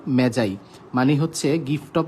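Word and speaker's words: magi: মেগাস এর প্লুরাল হবে মেজাই এটার উচ্চারণ কিন্তু ম্যাগি না এটার উচ্চারণ আসলে মেজাই মেজাই মানে হচ্ছে সাধু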